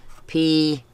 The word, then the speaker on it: phthalo: processing that word, and I guess with one L, which is how it's spelled, Phthalo. Right? And I thought, okay, in the reading world, one L means that vowel right in front of it is a long sounding vowel.